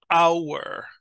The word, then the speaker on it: hour: a consonant sound but there are some words that have a silent h like in Spanish so hour honest those words will attract the vowel facing indefinite article an an hour right so try to